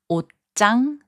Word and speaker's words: 옷장: In the last group of words, 지읒 changes its sound to 쌍지읒. 옷장, which means closet, is pronounced as 옷장. 잡지, which means magazine, is pronounced as 잡지. 갑자기, which means suddenly, is pronounced as 갑자기.